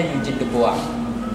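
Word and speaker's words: Eugène Dubois: Eugene de Bois, tulisannya tapi bacanya Eugene de Bois.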